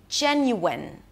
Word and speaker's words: genuine: Today, we are going to talk about how to pronounce the word genuine. I genuinely believe it is an important word to know how to pronounce. Genuine. Three syllables. The first one is Jen.